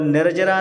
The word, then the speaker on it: निर्जरा: और निर्जरा नहीं, निर्जरा, जा में छुट्टी की मात्रा नहीं लगाना, निर्जरा नहीं बोलना, निर्जरा।